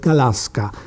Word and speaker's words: Gałązka: Natomiast moje nazwisko Włosi wymawiają Galaska.